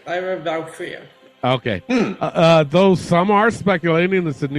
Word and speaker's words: Lyra Valkyria: On October 13th, WWE filed a trademark for the name Lyra Valkyria. Did I pronounce that right, Elio? Or did I butcher it? No, that's right. Lyra Valkyria.